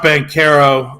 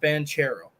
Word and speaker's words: Banchero: pick in that draft I think it's pronounced band Caro uh frankly corrected me on that a while back I am a Duke fan it is pronounced banchero I think it's been